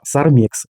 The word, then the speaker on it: SARMIX: Дивіться, тепер ця фірма буде називатися SARMIX. Наголос на другий склад. На другий склад SARMX.